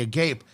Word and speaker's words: Agape: I believe you could pronounce it the Agape.